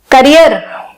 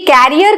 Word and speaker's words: career: कुछ लोग तो इसको कैरियर ही बोल देते हैं, जबकि कैरियर का मतलब होता है जो किसी चीज को कैरी करे, जैसे कि मस्कीटो, वो कैरियर है उस बीमारी का। और कुछ लोग इसको बोलते हैं करियर। एक्चुअल प्रोनाउंसिएशन इसकी क्या है, करियर, करियर, करियर। दूसरा आर बहुत ज्यादा सुनाई नहीं देता है और ऑलमोस्ट ना के बराबर होता है, और इसकी प्रोनाउंसिएशन बन